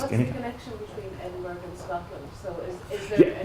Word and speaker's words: Edinburg: We say, you guys know how people pronounce it in the valley? We say Edinburgh. You heard it right? I live in Edinburgh. Like there's a G after the N.